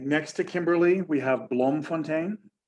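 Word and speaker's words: Bloemfontein: to kimberly we have blom fontaine blom fontaine i'll spell this for you for those of you who don't speak dutch b l o e m f o n t e i n it's dutch for um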